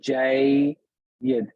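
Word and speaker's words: جيّد: Jayyid. This is harf leen, but it's jayyid. So the way you would pronounce the way I want you to think about this is this way.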